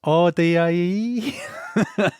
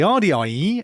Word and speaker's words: Ardiaei: It's spelt Ardiaei. And I think it's Ardiaei.